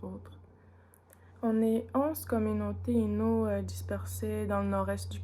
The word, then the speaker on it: Innu: Les communautés qui sont plus à l'ouest vont utiliser la lettre L pour parler au lieu du N, par exemple, dans le mot Innu. Eux autres, ils vont dire Ilnu.